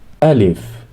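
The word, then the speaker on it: ألف: be about Arabic alphabet alif alif pronounced like the a in Father a Al if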